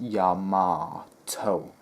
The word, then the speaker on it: Yamato: she's something like that it sounds like yamato that's how it's pronounced yeah ma toh it has its like